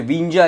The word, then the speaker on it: Windsor: विंजा इसकी प्रोनाउंसिएशन करेंगे, क्या बोलोगे? विंजा, विंजा, WINDSOR, विंजा। ओके, तो इसको हम आगे बढ़ेंगे।